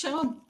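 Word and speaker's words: Jérôme: It's Jerome. It's a French name.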